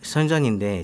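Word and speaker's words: 深圳: 그 화웨이하고 이제 그 중국 발음은 선전인데 선전에 중싱이라는 ZTE라는 그 중국 그 통신 장비 회사가 있습니다.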